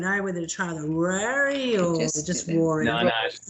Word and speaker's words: Ruairi: I was 6, so the Gaelic pronunciation is Ruairi, but in my attempts to fit in Townsville, I took on Ruairi because it was a lot easier for people to say. Yes. Okay. Ruairi.